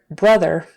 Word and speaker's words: brother: would normally say it brother has two RS we have an R blend with a B bruh BR and then R vocal on the end so when she says